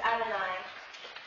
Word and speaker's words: Adonai: And in case anybody is unclear on the pronunciation, the word for God's name is Adonai.